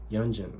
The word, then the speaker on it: Yeonjun: Is it Jun or Yeonjun? Yeonjun. It sounds like a Jun. Like the month Jun.